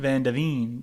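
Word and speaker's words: Van de Ven: made the mistake uhhuh you yeah Vander vanine vanine that's how you say it yeah he made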